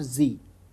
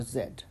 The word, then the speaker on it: Z: denoted by Zed or Z it is pronounced Z or Zed and finally there is